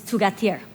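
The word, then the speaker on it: θυγάτηρ: In Greek, it's tugatir.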